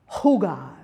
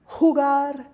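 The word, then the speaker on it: jugar: So J will be h, h, as in, if you think of Scottish loch, Loch Lomond, loch, and we have hugar, hugar, or hamon, hamon.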